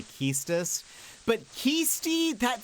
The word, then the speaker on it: Quistis: I grew up saying Quistis. Apparently that's not correct. People say Keistis.